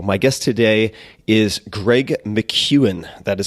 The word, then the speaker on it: McKeown: Tim Ferriss show my guest today is Greg McEwan that is spelled MC ke o WN Greg is the